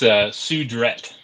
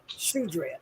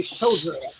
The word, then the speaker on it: Sudret: It's Sudret. Sudret. Okay. Because French. in my brain, I kept wanting to say Sodret, but okay.